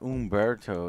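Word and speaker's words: Humberto: I keep thinking it's not Umberto, it's Humber. It's the H Umberto. Is silent.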